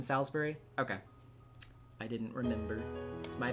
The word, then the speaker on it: Salisbury: Oh, the eye is silent in Salisbury.